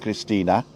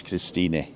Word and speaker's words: Christine: It's spelt Christine with an E, but Germans pronounce the E, so it's Christine. It's not Christina, it's Christine.